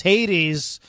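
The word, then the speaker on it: Haiteez: This is Hades, and I'll spell it for you, H-A-I-T-E-E-Z, and this is called In the Shadows.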